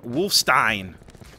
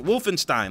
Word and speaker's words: Wolfenstein: me up last video I was pronouncing it wolfstein wolfen Wolfenstein like Frankenstein there you go I